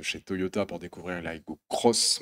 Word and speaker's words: Aygo X: toyota pour découvrir la iago cross même si ça s'écrit à hugo x ça se prononcer au cross on y tient chez